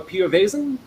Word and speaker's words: Piovesan: have carlo and i'm going to say your name wrong pio vasen yes perfect thank you nailed it uh and